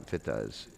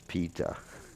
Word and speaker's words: pita: Actually, it's Admapita, not Pita. Pita. You know, it's not a long I there. I notice that everybody, when they're doing the verse, they're pronouncing the I in Pita as Pita.